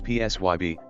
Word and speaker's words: PSYB: She decided to call us PSYB, but the B is silent.